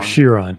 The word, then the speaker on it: Chiron: So, you know how you were talking about the Chiron yesterday, Tony? The what? The Bugatti. The Bugatti Shiron. Chiron. Yeah. Yeah. Chiron. Whatever. Whatever.